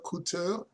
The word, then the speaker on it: Couture: you tell me if i'm right it's alyssa coutu yes that's that's the the proper way to